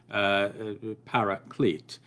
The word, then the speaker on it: paraclete: commentators decide to just simply retain the word parakletos. They retain it often in an English equivalent or an anglicized pronunciation, paraclete.